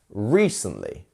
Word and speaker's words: recently: so we could say recently three syllables we have our stress syllables after the I re instead of recently and we have our stress syllable which is our first one recently recently practice going even